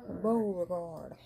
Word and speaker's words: Beauregard: Beauregard.